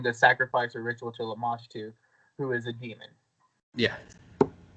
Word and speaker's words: Lamashtu: Like, they did not, and it was Lamashtu. And it was Lamashtu? Lamashtu, yes. Okay. Can you spell that?